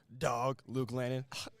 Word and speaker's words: Luke Lannon: To clarify, we've pronouncing his name wrong. We got to put some respect on his name. Luke Lannon.